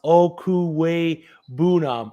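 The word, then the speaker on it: Okwuegbunam: uzama take it from him as you guys pronounce okuwei boonum oh so i was close i wasn't right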